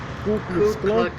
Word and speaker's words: Ku Klux Klan: o clube roxy cleaning ouvir o direito a pronúncia ku klux klan pois bem um e essa organização criminosa terrorista